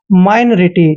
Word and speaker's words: minority: देखिए दोस्तों एम आई का उच्चारण माई करते हैं ऐसे, और एन का उच्चारण न करेंगे, ओ आर का उच्चारण रे करेंगे, आई को ई की मात्रा पढ़ते हैं और टी वाई को टी पढ़ते हैं। माइनरिटी, ठीक है ना, माइनरिटी भी